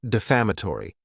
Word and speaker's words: defamatory: Next is the word defamatory, and this word has 5 syllables, and the stress is on that second syllable.